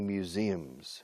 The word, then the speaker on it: museum: Museum, museum, museum, museum. All right? Stress the second syllable.